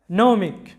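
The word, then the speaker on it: gnomic: এরপরে নৌমিক, নৌমিক, যেটার বাংলা অর্থটা হচ্ছে প্রবাদধর্মী।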